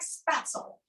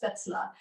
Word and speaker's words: spätzle: So on our spätzle, you notice I'm saying spätzle. The recipe, it looks like spatzel, and that's what we might call it in Kentucky, right? That's what I call it, but that's the real pronunciation is spätzle.